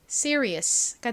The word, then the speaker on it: serious: S가 이렇게 단어의 가장 앞에 오고 뒤에 모음이 온 경우 보통 S는 보통 쌍시옷에 가깝게 좀 세게 발음이 된다고 설명드렸죠. 자, 그리고 E는 OE가 없네. 에오e 소리 중이 소리로 쓰였습니다. 리을 소리 나고요. IUS 덩어리 철자는이 소리가 나니까 연결하면 serious가 되죠. serious.이 RI은 표기는 주로 하는데 실제 발음은 리보다는 리에 가깝게 소리가 난다는 점도 앞에서 설명을 드렸었죠.